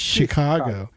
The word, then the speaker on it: Chicago: Chicago because they say you don't say Chicago it's like that's how it's spelled Chicago and no it's Chicago and so not C you got to use a s sound I I say Chicago